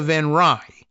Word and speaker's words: Van Rij: we'll say internationalist Armida van Rij. That's Van Rij in the, I guess, Dutch pronunciation. So I think we've actually got that one. R-I-J. V-A-N, of course, Van Rij.